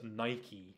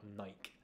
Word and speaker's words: Nike: the correct pronunciation is Nike not Nike and because it's named after the Greek goddess so yeah thank you thank you for the clarification yeah and yes it is pronounced Nike that is the last